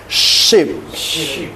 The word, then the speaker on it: ship: Kemudian SH. Ini kayak sah gitu. Kalau ini dia sah. Dia kayak ular gitu. Oke. Oke, contohnya kapal. Coba bahasa Inggrisnya kapal apa? Coba bacanya ini apa? Ship. Nah, jadi ya kan kita biasa ship. Mau kemana? Mau ship katanya kan. Jadi mulai dari sekarang diganti, oke? Ship.